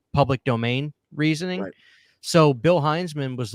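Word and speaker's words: Hinzman: saying a guy's name wrong I was saying hensman but his name's pronounced hinesman the reason hman I was saying Hinman so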